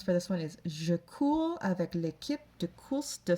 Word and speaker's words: cours: So the C-O-U-R-S and the C-O-U-R-T are spelled or are pronounced identically, even though they're spelled differently.